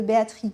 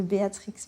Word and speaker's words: Béatrix: Béatrix a prononcé comme perdrix et dicte le père à l'origine du choix de cette nomination où il faut refouler le X.